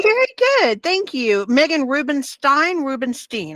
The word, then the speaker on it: Rubinstein: Meghan Rubinstein. I want to say it correctly. It's Steen. Rubinstein.